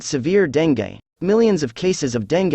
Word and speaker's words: dengue: It is pronounced as dengue.